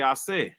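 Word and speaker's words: Àṣẹ: Even the word Ashe. If you go to Oyo, they say Ashe. The S drops the dot. No longer Ashe for them. That's Oyo dialect.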